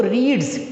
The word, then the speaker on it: read: तो रीड्स, इसकी third form spelling यही होती है READ, लेकिन इसको रेड बोल देते हैं।